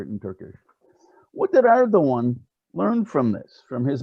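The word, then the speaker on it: Erdoğan: khan excuse me like erdogan the g is a soft and it's not pronounced basically with the line over it in turkish what did erdogan learn from this from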